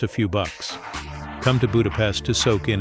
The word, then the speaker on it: Budapest: And one more important note, make sure to pronounce the name of the capital correctly. It's budapestt, not budapest like the word for insects in English.